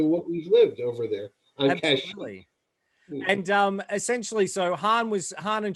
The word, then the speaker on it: Kashyyyk: Well, Han was trying to get Chewie back to his home on Kashyyyk, or as they pronounce it, Kazook.